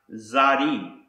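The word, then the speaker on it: צדי: letter in the Square script this word is pronounced Zari and we can see the spelling of the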